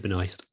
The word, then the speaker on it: Benoist: Melissa Benoist.